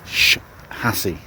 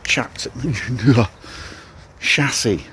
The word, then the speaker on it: chassis: just say pronouncing it chassis I'm sorry it's sh hassy not CH chassis like shur or shaku yes that's right my